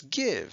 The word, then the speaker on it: give: out this time though the i is short it's not guy if it's give so we give it